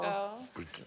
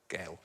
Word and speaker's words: girl: Girls. Girls. So if you are posh, you pronounce girl to rhyme with hell. Gel. Gel. A gel. Or hal. Gal. Not to rhyme with curl, not girl.